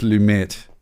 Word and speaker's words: Lumet: all right how does that sound uh it's lumet i'm gonna have to record lumet lumet lumet